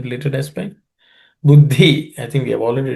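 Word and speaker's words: बुद्धि: Buddhi, I think we have already discussed. Uddhi, the compound uddha, the dha has to be, second dha has to be aspirated.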